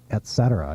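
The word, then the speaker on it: etc.: say e but also pronounce Etc in three syllables not two don't say Etc but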